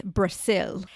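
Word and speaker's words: Brasil: But in Portuguese, which is their native language, it's spelled with an S. It's Brazil.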